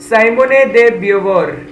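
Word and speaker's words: Simone de Beauvoir: द writings of साइमोने दे ब्यूवोर या फिर साइमोन दे ब्यूवोर, ठीक है, ऐसा आप प्रोनाउंस कर सकते हैं इन्हें, यहाँ पे मैंने इनकी फोटो भी दी हुई है, ठीक है।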